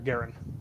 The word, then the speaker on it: Guerin: all i'll see uh like the hockey player garen gary okay perfect uh